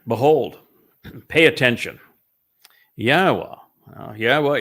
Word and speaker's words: Yahweh: Now, Yahweh is the proper pronunciation of Yahweh's name as Eloah, God, as instructed